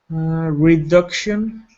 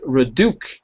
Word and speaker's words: reduction: Reduction. That's it. So it's not reduc, but reduction.